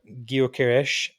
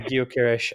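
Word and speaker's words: Gyökeres: must say that um Victor Gish has and that is how you pronounce it by the way I did I did I did a few YouTube uh Clips before Victor guish has sh impression he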